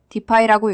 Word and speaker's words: Dify: 디파이라고 읽습니다.